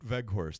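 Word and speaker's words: Weghorst: Voet Veghorst. That's how it's pronounced, because it's not W, it's V. Voet Veghorst.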